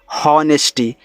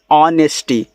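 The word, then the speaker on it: honesty: हैं इसको पढ़ते हैं होनेस्टी जो कि आपका यहां पे गलत है इसका उच्चारण एच का नहीं होता इसको पढ़ते हैं ऑनेस्टी यहां से ऑन से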